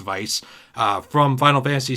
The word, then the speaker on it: Weiss: saw weiss in here i always say his name wrong i think it's weiss i don't think it's vice from final fantasy 7